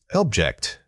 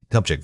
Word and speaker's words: object: Object, noun. Object, verb. The stress moves from the first syllable to the second.